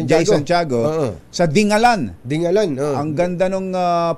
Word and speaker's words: Dingalan: e daw yan kumbachero tinanong ko yung ano ba talaga pronounce diyan sabi ko kay mayor Sherwin taay Shay si May dingalan pala dingalan dingalan dingalan si Mayor Sherwin taay